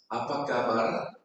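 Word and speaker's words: Apa kabar: 여기는 R 발음이 중요합니다. 그러니까 중요해요. 아빠까발.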